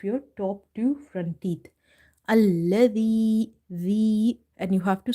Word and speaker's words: الذي: Hamza, lam fatha, al, lam fatha la, alla, dhal, ya kasra di, alladhi, the. Now, dhal is from the tip of the tongue. If you say allazi, z, then it will be wrong.